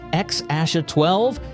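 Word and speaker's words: X Æ A-12: And if you're wondering how to pronounce it, even Grimes and Elon gave different answers. At one point, she said it was X-Asha12, and Elon said it was just X.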